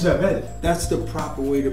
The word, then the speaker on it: Jarrell: Jarrell. It's Jarrell. That's the proper way to pronounce it, man.